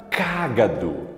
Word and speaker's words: cágado: Se nós formos analisar qual é a sílaba mais forte, é o Gá. Diferente da palavra cágado.